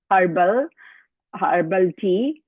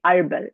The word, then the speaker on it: herbal: In India, we say herbal tea. Here we say herbal. H is silent.